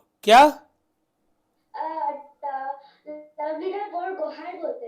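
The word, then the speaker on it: Borgohain: लवलीना बोरगोहाइन बोलते हैं। अब मेरे को बेटा नाम में हो सकता है प्रोनाउंसिएशन में गलती हो रही हो। क्या बोलते हैं? बोरगोहाई।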